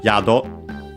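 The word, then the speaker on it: 宿: First we have yokari, a compound noun from uh yado accent on the first syllable which means uh lodging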